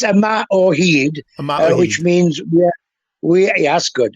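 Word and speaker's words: Yma o Hyd: and forgive my pronunciation omahood which was the the anthem of Wales at the World Cup tell me about that not a very good pronunciation but it's a mat or heed which means yeah that's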